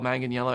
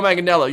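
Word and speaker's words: Manganiello: woman this here uh how to pronounce manganello because I thought it was all Magan Yello anyway uh Joe magello you know him from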